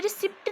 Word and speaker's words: receipt: कई लोग इतने रिस्ट यह रिसिप्ट नहीं होता अत इस साइलेंट होता है इसे हम कहेंगे रिसीप्ट रेसीडेंट पेमेंट अकाउंट को